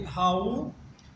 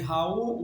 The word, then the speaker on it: Raoul: Eu vou falar a vocês sobre Raoul, que no caso se escreve R-A-O-U-L, Wallenberg, ou simplesmente Wallenberg.